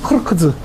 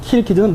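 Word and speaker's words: Кыргыз: 그리고 개쿠는 크르크즈 키르키지다라고 써놓은 거예요. 크르크즈가 키르키지입니다. 이건 크르크즈는 중앙아시아 식발음, 키르키즈는 러시아 식발음이에요.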